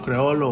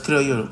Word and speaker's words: criollo: También lo pueden oír como creolo o criole. Se escribe de muchas maneras según la traducción, pero es criollo, como lo voy a mencionar yo.